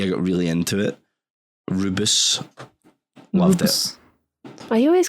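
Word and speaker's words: Rooibos: Is that the one that's spelled Rubios? Yeah. Yeah, rude I just boy. call it Or Rubios. Roibus.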